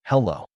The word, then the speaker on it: hello: It has two syllables, hello. Notice how the stress is on the second syllable.